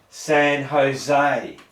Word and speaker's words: San Jose: San Jose. Yeah. San Jose, because it's not spelt San's there, but the Jose part is Jose. Yeah. So idiots like me try and pronounce the J.